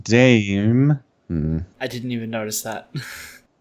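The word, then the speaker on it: DxE: vegan activists who identify themselves as members of Direct Action Everywhere Melbourne, which is pronounced DAM.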